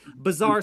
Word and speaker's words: Bazaar: You've heard the word bizarre. It's bizarre. Bizarre swap. It's Bazaar. Okay, it's spelled differently. Phonetically, I'm trying to say it correctly. Bazaar Swap.